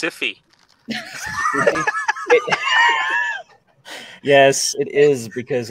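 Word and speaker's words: Syfy: That's pronounced Siffy.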